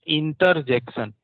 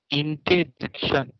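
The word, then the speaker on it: interjection: अब इसमें ये ना बोल देना इंटरजेक्शन, यहाँ ई आर दोनों है तो इसका मतलब ये नहीं बोलना है इंटरजेक्शन। इंटर बोलना ही नहीं है, इंटेजेक्शन, आर यहाँ से गया, इंटेजेक्शन, ऐसा आपको प्रोनाउंस करना होगा, इंटेजेक्शन।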